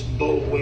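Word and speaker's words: Boulware: It's Bowler is how it looks. B-O-U-L-W-A-R-E.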